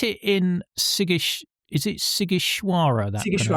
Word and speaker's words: Sighișoara: You set it in Sighiș, is it Sighișoara that you Sighișoara, yes. Oh, okay. Gosh, I'm getting my pronunciation correct for a change today.